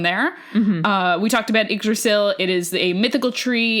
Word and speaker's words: Yggdrasil: They're all kind of interconnected because they're all part of this giant world tree called Yggdrasil. Huh. Which that was a great pronunciation.